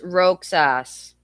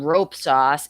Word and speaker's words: Roxas: How do you pronounce Roxas? No, not rope sauce. It said rope sauce. What the hell? Roxas? Rope? Roxas. Roxas? Roxas. Roxas. Oh, I am. Roxas. So you do pronounce. So you do pronounce the X, because I heard somebody's